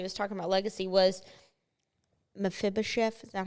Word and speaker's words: Mephibosheth: about when he was talking about legacy was Mephibosheth.